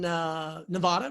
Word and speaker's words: Nevada: oh you know what that is anymore in Nevada right there are you in Las Vegas sorry